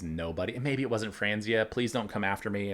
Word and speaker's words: Franzia: and maybe it wasn't Franzia please don't come after me I saw the photo at a glance so it's not frenzy it rhymes with ranzia I don't know but